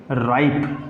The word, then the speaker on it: ripe: मैंने क्या कहा था आपको, किसी भी वर्ड मीनिंग के लास्ट में अगर ई मिल रहा है तो उसके वर्ड मीनिंग में आया हुआ पहले वाला जो वोवल होता है वो थोड़ा लंबा हो जाता है.